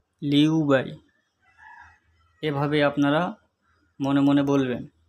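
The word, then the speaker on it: 六百: হবে উবাই উবাই উবাই 600 600 চায়না ভাষায় উচ্চারণ হবে লিউবাই লিউবাই এভাবে আপনারা মনে মনে বলবেন তাহলে অল্পদিনের মধ্যে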